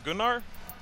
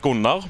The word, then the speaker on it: Gunnar: My name is This is kind of my name is Gunnar, or in Norwegian it's pronounced Gunnar, where I'm from.